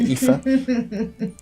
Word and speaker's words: Aoife: think it's Aoife, this one, Aoife.